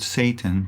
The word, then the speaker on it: Satan: The Hebrew word Satan, pronounced Satan, means opponent or adversary and refers to the chief opponent of Jaja and Elohim.